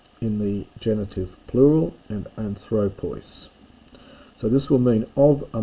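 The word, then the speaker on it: ἄνθρωπος: Now if you're worried about accents and things you might have noticed that it's anthropos with the accent on the alpha in the nominative and then suddenly it becomes anthropu. The accent moves.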